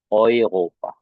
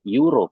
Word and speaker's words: Euro: jadinya menjadi Europa ya, Europa. Yang uangnya juga kan itu dibacanya bukan euro tetapi euro. Nah, ya dibacanya menjadi euro ya, euro ya teman-teman ya.